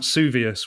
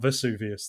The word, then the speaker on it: Vesuvius: What is Mount Suvius, which she mispronounces, which should be Mount Vesuvius, that sort of thing.